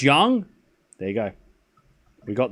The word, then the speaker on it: Yang: It's pronounced young.